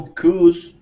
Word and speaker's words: cues: Not cues, but cues. Cues. That's it. Cues. In this case, it's not Q like stand in queue, like a waiting line.